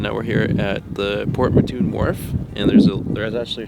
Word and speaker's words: Port Mouton: Port Mouton sounds like, or is spelled like Mouton? M-O-U-T-O-N. So it's not Port Mouton, it's Port Mouton is what we learned. We learned the hard way.